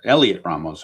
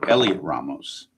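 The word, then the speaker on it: Heliot Ramos: Here is Elliot Ram Elliot Ramos. I forget the H is silent. Elliot Ramos. Elliot Ramos.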